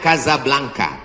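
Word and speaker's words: Casablanca: kuliah nama negaranya Maroko ibukotanya tulisannya Caca blancha cara bacanya Kadzab langka Kaza artinya rumah Blanca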